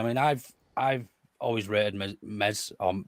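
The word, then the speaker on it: Meslier: I've I've always rated MZ on with a silent s and in a Not So Silent Zed because there's not a zed in his name but uh there yeah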